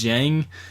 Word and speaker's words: Dieng: jang that dang it's spelled dang but is pronounced jang but jang did put up quite a few